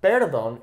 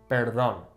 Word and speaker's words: perdón: Okay, notice how there's an accent over the O. So it's not perdón, it's perdón. Okay, because normally that natural emphasis falls here on the second to last vowel. Okay, perdón.